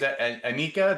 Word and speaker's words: Anyika: But Macey and your last name is Anika. Did I spell that right?